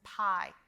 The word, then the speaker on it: pie: The E is silent, and all you hear is the long I sound, as in pie. P-I, pie.